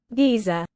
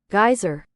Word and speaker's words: geyser: how to pronounce Giza thank you American pronunciation geyser there you go well there there we are it's a it's a regional difference but I was right God damn it that's how we do say it in Britain all right we could